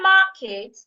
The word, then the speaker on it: market: In the word market, I also need to say the first part louder, longer, and clearer.